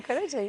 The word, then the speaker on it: Karaca: Selma Caraca. Oh, Caraja, is that how you say it? Selma Karaca, yes.